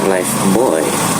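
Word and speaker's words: Lifebuoy: Terus waktu itu gue ingat ada sebuah iklan gitu ya, itu ada tulisannya Live Boy. Nah, tapi di iklan itu dibacanya Life Boy.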